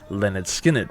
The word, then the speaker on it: Lynyrd Skynyrd: to their highly influential and explosive debut effort pronounced Leonard skinned released the year prior if the band wanted